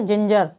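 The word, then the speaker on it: ginger: जिंजर।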